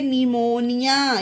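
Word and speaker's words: pneumonia: और ये होता है निमोनिया। ये देखिए पी के बाद एन है तो पढ़ते हैं निमोनिया। तो ये हमारे एग्जाम्पल थे, पी के बाद एन आए तो पी साइलेंट रहता है।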